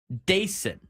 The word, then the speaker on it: Dason: Dason. That's his pronunciation guide on there.